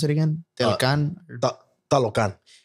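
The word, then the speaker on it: Talokan: And that's been the city of I forget how do you pronounce it again? Talocan.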